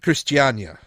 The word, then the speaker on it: Christiania: in uh in Copenhagen how how do you pronounce that again Christiania oh Christiania okay that's as best as I've